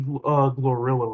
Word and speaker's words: Glorilla: Yeah, except for like two of the people because I didn't see Central C rap and I didn't see Glorilla rap. Oh, that's how you pronounce it, Glorilla.